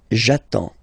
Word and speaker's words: attends: So the first form will be j'attends, j'attends. Okay, you get D and S, well basically you don't pronounce them, okay, and then you get only the sound attends, nasal here, en, j'attends, okay.